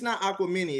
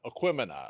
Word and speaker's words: Aquemini: It's not Aquamini, is it? No, Aquemini. Oh my God, Aquemini, not Aquamini.